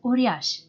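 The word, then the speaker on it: uriaș: with the purias which is the plural for uriash the letter s with a diagramical mark underneath is pronounced shu like when you say for example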